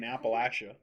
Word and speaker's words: Appalachia: I divorced Send her back to the fucking Appalachia. You said it right. One time I said Appalachia, almost ended our marriage. I would say Appalachia. I said Appalachian. I said And she said it's Appalachian. Appalachian.